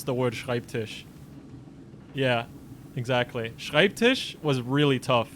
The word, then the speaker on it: Schreibtisch: could pronounce the word schreibtisch yeah exactly was really tough for like everybody yeah nobody like everyone nobody could say the the sch at the start everyone was like skype skype tish or something and nobody